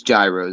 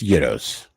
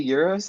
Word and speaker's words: gyros: think but yeah no it's it's euros is it actually there's that's I'm Greek I I know what he is it is it actually yours oh I've been saying it wrong my whole life for real oh okay